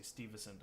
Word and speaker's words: Stuyvesant: think it's Peter Stuyvesant I don't know how the Dutch pronounced I just know New York they say Steve esand I think this person